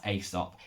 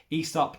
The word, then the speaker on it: Aesop: i adore and that's aesop esop depends where you come from is how it's pronounced i love love love